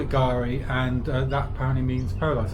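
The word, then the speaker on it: K'gari: Or Gari. Gari, that's They- right. The they K put- is silent. They put a K in for God knows what reason, but yeah. So it's called Gari, but it used to be called Fraser Island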